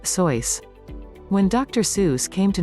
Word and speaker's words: Seuss: who wrote children's books its pronunciation sounded similar to that of mother goose five the butter battle